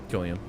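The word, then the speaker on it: Cillian: coming back San Killian how do you actually pronounce that Killian hard hard hard SE mhm I learned that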